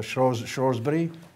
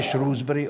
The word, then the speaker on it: Shrewsbury: British Rail in the 70s, from Chester to Shrewsbury. Never say Shrewsbury, always say Shrewsbury.